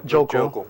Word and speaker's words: Joeckel: Yeah, Joeckel, right? Yeah, that's how you say it.